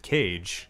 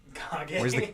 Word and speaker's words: Kage: You might also pronounce it Cage. No. Kage. Where's the camera? It's Kage.